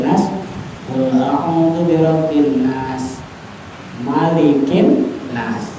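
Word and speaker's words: مَلِكِ النَّاسِ: Qul a'udzu birabbin nas malikin nas. Jadi jangan dibaca panjang, langsung malikin nas.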